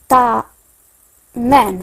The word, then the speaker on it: 他们: We all pronounce the plural personal as ta-men for they or them, but the spelling is always different.